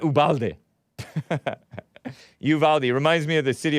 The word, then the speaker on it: Uvalde: and then i was calling it uvalde or ubalde ubalde texas it's like a border town or